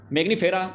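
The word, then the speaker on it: Mangifera: तो गाइज़ यहां पर आप देखेंगे मैगनी मैग्नीिफेरा इंडिका।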